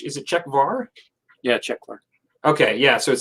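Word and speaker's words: Czechvar: Is it, how do you pronounce it? Is it Czech Var? Yeah, Czech Var.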